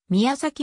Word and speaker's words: 宮前: 村に由来する宮前村は宮崎村と読むが美山行くが成立